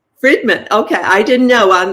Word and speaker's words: Friedman: very happy to be here and it's fredman fredman okay I didn't know on the pronunciation I should have asked that before we